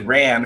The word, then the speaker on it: Ran: The crab rider is Crabby Ran. R-A-N. In case Obviously. you want to spell it.